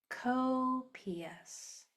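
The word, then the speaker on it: copious: Cops.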